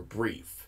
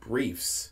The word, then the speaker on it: Brief: Her father's name is Dr. Brief, not Briefs, and Brief isn't his last name.